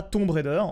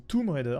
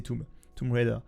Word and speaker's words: Tomb Raider: Déjà, on dit pas Tomb Raider, on dit Tomb Raider, ça se prononce comme ça. Même si tous les Français disent tombe, parce que on dit pierre tombale, la tombe en français, mais c'est Tomb Raider.